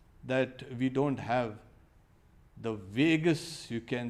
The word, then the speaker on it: vagus: Now, a monk was saying, okay, I only hope that we don't have the vagus, you can say, nerve. You know, Vegas, Las Vegas also is pronounced Vegas.